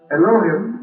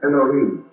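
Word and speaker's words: אלהים: We generally pronounce that as elohhim or more perhaps correctly elohim.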